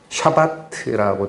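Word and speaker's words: שבת: 그래서 안식일이라고 그런 거는 히브리어 발음으로는 샤바트라고 되어 있거든요.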